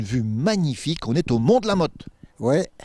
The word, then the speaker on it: Mont de la Motte: On est au Mont de la Mote. Ouais et ça s'écrit le Mont de la motase. Ouais mais on le dit pas.